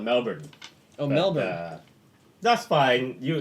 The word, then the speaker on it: Melbourne: down did they called Melbourne Oh Melba that's fine you you Americans always put the emphasis on the second syllable I said it's a